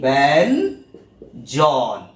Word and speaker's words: ব্যঞ্জন: নিই না ব্যঞ্জন এইযে ব্যঞ্জন তাহলে আমাদের এখানে কিন্তু উচ্চারণটা কিরকম দাড়াচ্ছে ব্যঞ্জন কিরকম দাড়াচ্ছে না এই ব্যান জন তাহলেই কিন্তু আমরা দেখতে